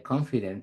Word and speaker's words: confident: no es nativo no pero no el acento de confident está en la primera sílaba Así que decidí probar